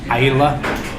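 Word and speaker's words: Islay: called Isa it's spelled like Isla but it's pronounced Ila and those are like Hefty like when you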